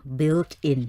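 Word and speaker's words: built-in: And another word that I think we pronounce it not very correctly is the word built in อาจารย์ because it's very difficult built in furniture in we will furniture.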